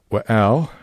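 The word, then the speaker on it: וְאֶל: The first word is wa'al, and remember that the beginning consonant waw with the short schwa vowel forms the introductory syllable wa, which can be translated as either and or but, depending on the context.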